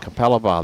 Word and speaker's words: Capalaba: bowls Queensland versus the Australian Defense Force at Kalpa Laba. How do you spell that one? How do you spell that one, Timbo? Capalibar. Capalabar.